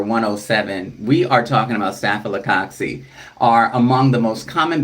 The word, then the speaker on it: Staphylococcus: Here on page number 107, we are talking about Staphylococcus, are among the most common bacteria that affect humans and are routinely found in our environment, including on our bodies.